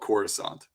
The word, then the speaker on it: Coruscant: Zahn contribution where he goes yeah it's called Coruscant that's how we're going to be pronouncing it and that sounds yep and it's